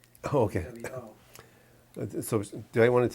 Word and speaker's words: wo: the word I, and that would be the word wo, W-O, which is Chinese. It means I, and there's no other way to pronounce wo, W-O.